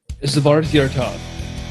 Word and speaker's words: Svarthjärtad: Svarthjärtad. Okay, almost made it. It's Swedish.